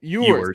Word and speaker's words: Ewers: Ewers. That's how you say it. Ewers.